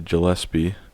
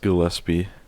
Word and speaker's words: Gillespie: to apologize because I I've been saying Dahlia gillespi but it is pronounced Gillespie I don't know how